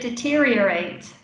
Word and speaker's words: deteriorate: yeah that's it deteriorate five syllables deteriorate that's quite a